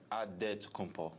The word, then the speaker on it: Antetokounmpo: In the real way, you gotta say it with a D, so it's Antetokounmpo.